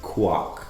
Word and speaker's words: Quoc: So my middle name is Quoc, but everyone mispronounces it as. Idea port. They say, Mr. It's really funny. Technically, quack, Quack.